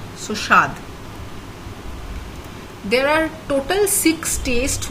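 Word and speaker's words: স্বাদ: basically the spelling of shaad in bangla but in pronunciation it's a very very light touch of of so it's pronounced almost as if the w is not there so shad there are total six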